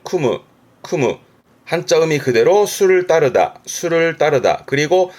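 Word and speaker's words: 酌む: 발음은 쿠무.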